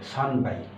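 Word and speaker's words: 三杯: যদি 3টা হয় তাহলে এখানে সান যোগ হাই, তাহলে 9 এবং হাই, 9 এবং হ যোগ হয়ে এটা ব হয়ে যাবে, সান বাই, এটা স্পেশাল সান বাই।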